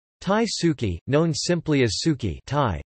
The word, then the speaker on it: สุกี้: Thai suki, known simply as suki, Thai, suki pronounced su, ki circumflex in Thailand, is a